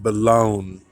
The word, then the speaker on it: Boulogne: Looks like Bologna, you pronounce it Boulogne.